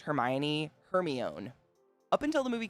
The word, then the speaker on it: Hermione: I totally get it why it's Hermione now. But like when there's no media to tell you you're pronouncing it wrong, like I couldn't ask my parents, like, what's this wizard name?